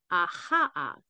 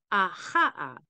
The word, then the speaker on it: Achaiah: The way to say this name is Aha'a. Achaiah. So you can just think of aha, and you kind of are saying the name of the angel.